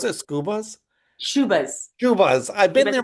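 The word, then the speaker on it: Schubas: So I'm playing in Chicago, As Scubas, September right? 27th Is that with how the you pronounce it? Scubas? Shubas.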